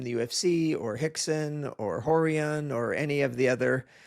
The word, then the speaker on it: Rorion: So whether it's Royce that you might know from the UFC, or Rickson, or Horian, or any of the other guys whose name actually start with R, but it's pronounced H.